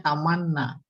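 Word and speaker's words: تمنّى: Ini bacanya tamanna. Terus ya tamanna. Baru taman nih. Taman nih. Taman nih. Tuh pakai ya. Karena sebelumnya kasroh.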